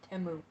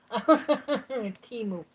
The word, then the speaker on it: Temu: See, I was saying it wrong. I was like Temu, Tamu, whatever. Timu.